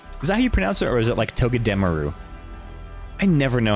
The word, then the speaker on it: Togedemaru: Togedemaru. You know, the R in Juarez. Like that. Is the Japanese way.